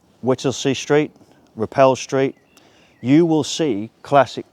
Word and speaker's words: Roupell: Some pronounce it Rupole, but most of us all know it as Repel.